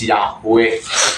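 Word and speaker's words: Yahweh: natin next lesson natin bakit ang pagpronounce natin dito is yahwe no sa ano kasi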